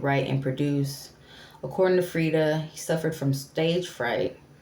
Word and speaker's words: Freedia: Frida adopted his stage name after a friend dubbed him Frida, pronounced Frida. According to Ross, I wanted